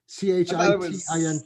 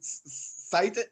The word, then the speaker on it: chitin: CHITIN. I always pronounce it cited. Oh no, it is with an H. You're right. Yeah, it's CHITIN, chitin.